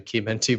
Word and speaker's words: Chimenti: Actually, you said it correctly. It's actually Chimenti, but our family goes by Chimenti.